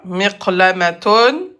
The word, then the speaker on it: مقلمة: Donc, miqlamatun, à la fin de la phrase ou quand on s'arrête, se prononce miqlamah. Miqlamah.